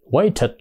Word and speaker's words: waited: đây quá khứ là waited waited waed nhưng mà người Mỹ đó thì đọc cái âm thành đ nha Thành đó là waed waited there chờ ở